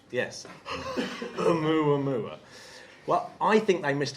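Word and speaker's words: ʻOumuamua: Oumuamua. I love that you pronounce the H. Yes. Oumuamua Well, I think they missed a trick because Arthur C.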